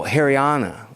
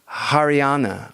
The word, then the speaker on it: Haryana: word Aryan came from oh hariana sorry I I mispronounce it haryana Ariana Aryan well I